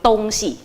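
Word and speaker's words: 东西: มารวมกันนะคะ เป็น dōngxi dōngxi เราจะต้องออกเสียง พยางค์เสียงหลังให้ออกเสียงเบา เป็น dōngxi แปลว่าสิ่งของค่ะ คำต่อมาค่ะ คือคำว่า yĭzi yĭzi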